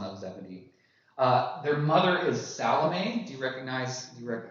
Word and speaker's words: Salome: Their mother is Salome. Do you recognize? Not to be pronounced salami, which we all did as kids because we thought it was funny.